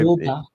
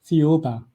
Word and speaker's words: Thiaoouba: Now there's a prophecy that you want to talk about and I cannot figure out how to pronounce it. So I Thiaoouba. I'm sorry? Thiaoouba. Thiaoouba.